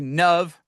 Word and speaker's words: Nav: your social media bios, you say Nav rhymes with love to help with the pronunciation, but that's also such a powerful thing.